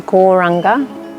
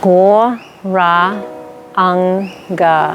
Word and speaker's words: gauranga: into larger breathing so the mantra we're going to be saying is gauranga setting four syllables war rah Unga so we're going to